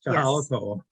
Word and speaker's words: Kahala Koa: Yes, Kahala Koa.